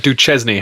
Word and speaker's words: Duchesne: Or is it Duchesne?